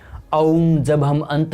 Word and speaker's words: ओम: जब आप ओम इस शब्द का उच्चारण करते हैं तब अंत में आप देखिए कि म का उच्चारण अनंत काल तक हो रहा है। ओम।